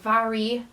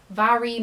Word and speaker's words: Mhairi: This is another book from a charity shop in York, and it's called It's Not Me, It's You by Mhairi, that is how you say it, Mhairi McFarlane.